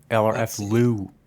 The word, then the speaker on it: LRFLEW: LRF Lou is how it's pronounced.